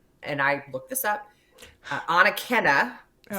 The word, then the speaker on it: Anakena: In 2000, he and others began excavations at, and I looked this up, Anakena.